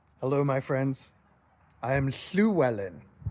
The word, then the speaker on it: Llywelyn: It looks like a double L in the Latin script. It's an aspirated L in the Cymric language.